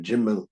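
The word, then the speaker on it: גימל: I know Yemenites by Gimel also, they have Gimel, they have Jimel, the different ways of pronunciation.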